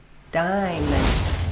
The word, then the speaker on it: diamond: Some people think this is a girl's best friend, diamond, dia-mond So there's no A sound in this one, dia-mond.